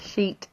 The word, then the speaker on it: sheet: Careful with the pronunciation, my students always get that wrong. It's very funny. A sheet of paper.